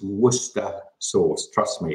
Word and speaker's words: Worcester: usually work work Hester so yeah it's it's Worcester sauce trust me it's much easier to say